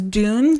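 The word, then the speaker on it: Dunne: I've heard people pronounce his name as Dune. Oh. But I've always called him Griffin Dunn, so I'll call him that.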